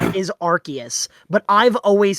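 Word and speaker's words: Arceus: No, it is pronounced the way you're supposed to pronounce it is Archus, but I've always said Arus, so I'm going to say Arus.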